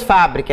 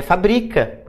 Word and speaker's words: fabrica: mais médico é medico não é mais fábrica é fabrica E aí elas viram